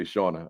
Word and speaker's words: Shauna: So my question to you, Shauna, am I pronouncing your first name correctly when I say Shauna?